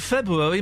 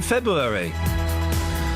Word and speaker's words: February: People don't pronounce the first R in February.